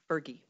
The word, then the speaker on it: PHRGE: h r g e which we lovingly pronounce fergie it is a true